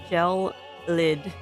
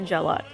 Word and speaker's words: gelid: to describe the temperature last two days jelled gelid not gellot see what I mean English is weird and